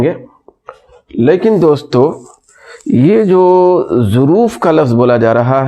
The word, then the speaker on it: ظروف: لکھا ہوا ہے ظروف۔ یہ جو اس کا تلفظ ہے دوستو، یہ ہے ظروف، یہ تلفظ ہے۔ یہ ظرفن کی جمع